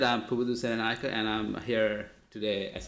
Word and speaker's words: Pubudu Senanayake: Pubudu Senanayake. That's pretty close. Could be worse. Could you help me out, please? It's Pubudu Senanayake.